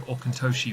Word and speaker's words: Auchentoshan: to start with um osin uh which is the name of The Distillery um we had to confirm this although I we did find also okoshi was another pronunciation yeah um yeah that